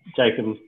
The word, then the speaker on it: Jacomb: Well, most people pronounce it differently. Jacob normally, but Jacob, I've heard it five different ways, so it doesn't really matter too much.